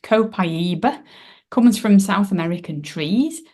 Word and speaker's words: copaiba: and Alpha humulene humulene um so this is pronounced copaiba comes from South American trees it's also great